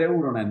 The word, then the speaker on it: Jere Uronen: Jerry Uronen, I hope I'm pronouncing that correctly. Who? He's gotten the defender. Yeah, Jared. Jere Uronen.